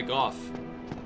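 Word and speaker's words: Gough: Doesn't Goff pronounce his own name as Go, or am I misremembering? No, he says Goff. It was fans who said go.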